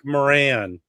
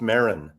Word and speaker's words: Maron: It's Mark Moran. It's Mark Maron. It's Maron. Moran. I do it by the old English pronunciation.